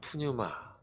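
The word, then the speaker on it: πνεῦμα: 성령은에 이와 같다라고 예수님이 말씀해 주셨는데 성령을 성령이라는 단어는 헬라어로는 푸뉴마 그리고 히브리어로는 어 루아흐라고 이렇게 발음합니다.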